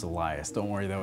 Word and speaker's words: Elias: I'm trying to exploit for views actually it's pronounced Elias don't worry though it's a common mispronunciation I